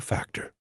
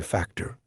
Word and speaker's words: factor: You know there is some very popular show called Fear Factor. I hope you're saying factor and not factor, okay?